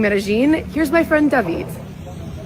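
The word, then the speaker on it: Medellín: J in which we when we have two L's together, we pronounce it as G. It happens with pojo. It's not pojo. It happens also with medin. So it's not medalene.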